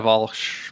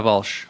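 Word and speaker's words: Walch: I mean, Elena Walsh, Pinot Grigio from Alto Adige, if you want Christmas. Wait, so Alto Adige, say the maker again? Elena Walsh, like Walsh.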